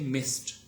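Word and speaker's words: messed: Voiceless, and this ed would not be pronounced as d sound, but rather as t sound, okay. So we say missed, okay.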